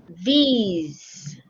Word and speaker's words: these: Okay, these is spelled with an E, but we do not say eh. We have to say it E. Okay? Just like he, she, these. These.